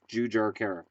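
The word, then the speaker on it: Jujhar Khaira: coming into the season jar Cara jujar jujar Cara the way they pronounce it jujar Cara okay um here's the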